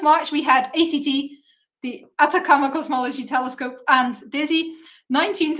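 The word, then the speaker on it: Atacama: I'm going to mispronounce it every single time because the acronym is ACT. So my brain reads it as Akatama, but it is the Atakama Cosmology Telescope.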